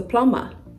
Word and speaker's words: plumber: sound sweet right plumber not plumber even takes more energy more Force to say plumber than to say plumber right okay it's a plumber next this word Lim